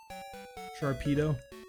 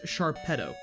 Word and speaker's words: Sharpedo: So, I say sharpedo, you know, cuz it's he's like a torpedo, you know, that makes sense to me. In my brain, that is a logical way of pronouncing that name, right?